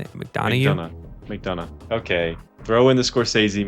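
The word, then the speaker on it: McDonagh: McDonough.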